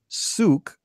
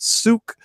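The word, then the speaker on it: Sooke: oh and of course I kept pronouncing it wrong because being American and following True Blood the television series the lead character's name was Suki oh I get it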